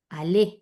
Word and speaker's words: allait: Allé. Ait. ¿Sí? Ait. Sí, Il sí. allé, entonces no pronuncio la T final.